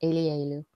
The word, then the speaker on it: Elielu: That's how you pronounce that. It's Elielu.